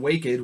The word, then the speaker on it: Waked: Fleury, Zach Vucali, Antoine Waked, which is how I learned his name is pronounced this preseason. I always thought it was just Waked.